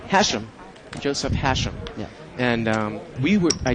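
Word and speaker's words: Hachem: It gives a lot of people trouble because it's a C, but it's pronounced as if there's an S there, so it's Hasham. Hasham, Joseph Hasham.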